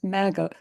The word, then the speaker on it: MAGA: The way you first pronounced that, it sounded like muggle, which seems so appropriate. Oh, okay, now I say MAGA.